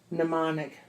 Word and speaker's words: mnemonic: ce que le knuckle silent beginning MN pronounced n not manam ik anomic a mnemonic pn pronounced and pneumonia